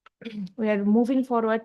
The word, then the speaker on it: We: English का जो आर है वो जर्मन में हो जाएगा एर। English are is pronounced as एर इन जर्मन।